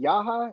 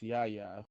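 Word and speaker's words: Yahya: Yaha? Is his name Yaha or Ya? It's Yaya. yeah.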